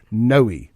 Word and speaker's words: Nooe: It's Noe, but it's spelled like new, or maybe it's not.